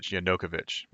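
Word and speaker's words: Yanukovych: the ukraine to enter the european union and yokonovich remember yokonovich is um or yeah am i pronouncing that right yeah yanokovich is you know he's putin's man right he's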